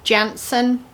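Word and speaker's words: Jantzen: smaller than an 8 nowadays, and they are Jansen.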